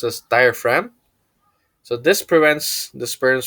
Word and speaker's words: diaphragm: this is for females using diaphragm this is pronounced as diaphragm so this prevents the spurns from entering the